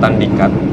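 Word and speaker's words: Tandikat: cek ternyata namanya Gunung Tandikan. Cuman untuk orang Padang atau orang sini nyebutnya atau cara bacanya tandik ya. Ini kosakata baru nih. Cara bacanya dengan pelafal eh penulisannya berbeda ya.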